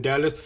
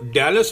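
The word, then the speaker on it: Dallas: California जा रही हूँ, डैलस। हाँ, एक तो डैलस होता है, डलास नहीं होता है। पहले जो आपकी प्रोनाउंसिएशन है ना वो सही कर लीजिए। इट इज़ नॉट डलास, इट इज़ डैलस, सबसे पहली बात तो।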